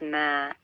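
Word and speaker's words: ما: dash linked to a vertical line and it's pronounced as mer please remember what this looks like and look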